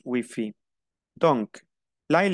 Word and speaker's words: Wi-Fi: Le Wi-Fi, on prononce Wi-Fi.